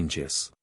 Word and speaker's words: ngis: Most Anglo-Saxons fail on the first try to say ngis. Many give up and declare it beyond their capacity to learn. Yet it is only sing pronounced backward.